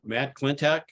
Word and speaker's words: Klentak: And thank you, Matt Klentak. Am I pronouncing your name correctly?